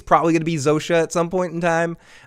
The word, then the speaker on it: Zosia: But I didn't give a shit about Zosha. Is that her name, Zosha? Zosha, yeah. It's Zosia. It's spelled Zosia. It's Zosha. That's how you pronounce it, I believe.